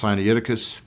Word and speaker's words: Sinaiticus: What is Codex Sinaiticus, or sometimes pronounced Sinaiticus?